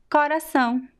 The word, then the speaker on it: coração: So in the Northeast, we usually pronounce the first O very open. Coração, coração, coração. It's an open O. Of course, the last one is a very weak U.